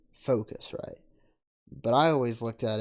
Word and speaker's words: Focusrite: but to be fair scarlet or foresight it's focusrite that's how it's pronounced i've heard it pronounced since i've been studying all this audio stuff i've heard it pronounced right and it's focus right but i always looked